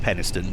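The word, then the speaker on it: Penistone: of the routes and yes it is technically pronounced peniston but you know let's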